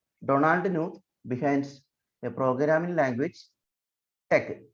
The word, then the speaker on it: TeX: And let us all remember the man, Donald Knuth, behind a programming language, tech. So you have to pronounce it as tech and not text.